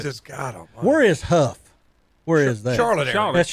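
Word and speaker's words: Hough: and if you look up in a dictionary, it gives you both pronunciation, but obviously they've always went by Huff.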